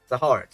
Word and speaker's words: Zahard: But Zahard, like you mostly say it, is a more correct pronunciation. Okay. Zahard, yeah.